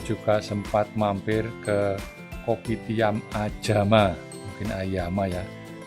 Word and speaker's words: Ayama: Ini kita ada di Kopitiam Ayama atau Ajama orang sini bacanya.